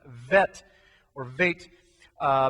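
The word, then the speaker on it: ב: technically that's actually pronounced vet or vit uh because it has no dot in the middle if there was a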